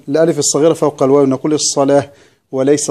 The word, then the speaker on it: الصلاة: يبقى عند الوقف نقف على الألف، نقول الربا وليس الربا، ومثلها كلمة الصلاة ترسم الألف الصغيرة فوق الواو، نقول الصلاة وليس الصلوات، وكلمة الزكاة هكذا، نقول الزكاة وليس الزكوات.